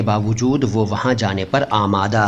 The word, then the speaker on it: आमादा: और उर्दू दोनों भाषाओं के शब्दों के शुद्ध उच्चारण को एक साथ समर्पित अपनी तरह का अकेला चैनल है आमादा आमादा फारसी से आया हुआ शब्द है इसका मतलब